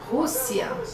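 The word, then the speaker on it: Rússia: English that is Belgium husia husia okay so this is Russia now notice again the letter R has that H sound and then there's the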